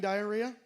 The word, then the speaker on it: diarrhea: It's got a silent H in it. That's why it's a hard word to spell. It's actually diarrhea.